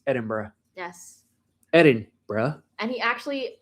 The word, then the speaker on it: Edinburgh: It's like when we go to Scotland, you can't say Edinburgh, it's Edinburgh.